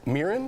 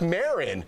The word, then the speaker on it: Maron: podcast with celebrity friend Mark Miran here he s Miren Miren Marc Maron he asked the actors how to pronounce his last name and when they knew